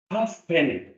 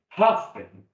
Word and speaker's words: halfpenny: We don't pronounce it. Logical. Halfpenny. Halfpenny.